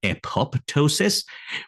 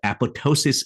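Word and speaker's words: apoptosis: this word as an epop Tois but uh if you just look at the linguistic that how the origin of this word actually happened the second P should be silent so the apotosis is the correct U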